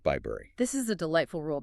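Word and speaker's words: Bibury: Like in Bybury, B-I-B-U-R-Y, pronounced Bybury.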